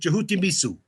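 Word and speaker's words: Djehuty: We use the term as Hakeim would pronounce it Jehut.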